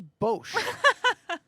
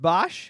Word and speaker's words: Bosch: I put it in front of her, and she goes, "So, who's Bosch?" And I was just like, "It's actually pronounced Bosch, and that's me."